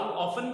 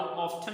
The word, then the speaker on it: often: सो हाउ ऑफन भी पढ़ सकते हैं और हाउ ऑफ्टन भी पढ़ सकते हैं।